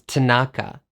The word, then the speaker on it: Tanaka: So Akari becomes Akari, Tanaka becomes Tanaka, and Yusuke becomes Yusuke.